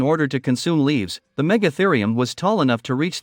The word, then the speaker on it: Megatherium: When it lived in both North America and South America between 2.6 million and 11,700 years ago, the Megatherium, pronounced Megatherium, was one of the largest mammals to have ever been on the globe.